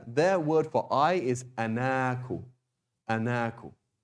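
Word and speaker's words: أنا: But anyway, the point is, by default, we write it like this, but we pronounce it like this. Ana, not ana. Okay, that's the default. There are some exceptions, but by default, it's always pronounced like this. Ana, and not ana.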